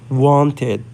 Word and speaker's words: wanted: So we're gonna say wanted.